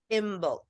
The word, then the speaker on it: Imbolc: I don't know how to pronounce. What is it? Imbolc.